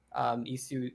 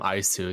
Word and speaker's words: iiSU: and the reason there's 2 I's is because I love the Wii, so I just wanted people to pronounce it Mhm. correctly, and it made sense.